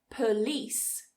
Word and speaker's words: police: to be aware that some 2-syllable words which have stress on the second syllable can be reduced just to 1 syllable. So what we do is we take that schwa or that I sound, we remove it in that weak first syllable, and then we squish it together and it becomes just 1 syllable.